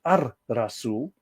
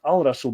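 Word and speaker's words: الرسول: and then of course the prophet al-razul is pronounced as ar rasul not al raso because don't forget that's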